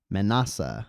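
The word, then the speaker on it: Manasseh: manessa gotcha appreciate it this is good menasa Manassa okay that makes sense Manassa n you're good I don't know how to pronounce a lot of these things so it's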